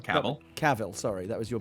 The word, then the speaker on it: Cavill: It's pronounced Cavill.